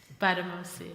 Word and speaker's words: Gbadamosi: Gbadamosi, sorry, I keep on stumbling. The G is silent. Gbadamosi.